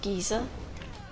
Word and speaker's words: Giza: place where pyramids are is a certain place called yeah Giza that's how I've always heard it and it's probably pronounced very differently in Egyptian but I don't know